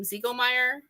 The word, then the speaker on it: Ziegelmeyer: And we have, and we're going to have, and do I pronounce her name Ziegelmeyer? Yes, that's right.